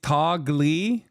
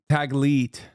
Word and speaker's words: Taglit: It's Tagli, is it? I don't know how to say it. Taglit? Taglit, sorry. I mispronounced it.